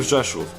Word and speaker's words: Rzeszów: A few days later, we went to the city of Rzeszów. Thank you, Luke, for the pronunciation, is a city located near the border between Poland and Ukraine.